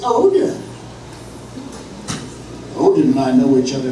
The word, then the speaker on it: Odin: one he's the god of Iceland Aiden you're pronouncing it Aiden in islandic it's Odin Odin I know each other very love get